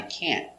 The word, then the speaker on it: can't: We don't pronounce a t hard. Make a stop t. Can't. So just put your tongue up and stop.